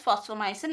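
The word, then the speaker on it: Fosfomycin: Phosphomycin is also called phosphonomy or sometimes instead of F we can use PH also. So it is again pronounced as phosphomycin only.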